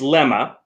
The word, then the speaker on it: lemma: For one, it's Lemma. It's pronounced Lemma. Okay. Although maybe it's different in British English.